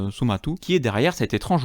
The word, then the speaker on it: Somato: C'est chez Glénat, et c'est un duo du nom de Somato, mais prononcé Somatu, qui est derrière cet étrange ouvrage.